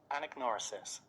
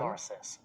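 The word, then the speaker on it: anagnorisis: Okay, Anagnosis. so this is the pronunciation. Now listen to the pronunciation. Anagnosis. Anagnosis.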